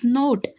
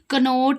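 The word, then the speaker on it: knot: please sit tie this नोट, please tie this, कनोट नहीं है ये, के साइलेंट है, नोट यानी गांठ बांधते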